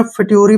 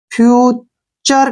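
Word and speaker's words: future: पर साइलेंट हो जाएगा टी का मतलब लगेगा यहां च और यू आर ई का जो उच्चारण होगा वह जो है फ्यूचर के रूप में होगा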